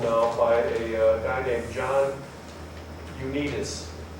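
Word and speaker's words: Ioannidis: by a guy named John Unitas. It's a Greek name. You know how Greeks always spell things? No, Unitas. But it's spelled I-O-A-N-N-I-D-I.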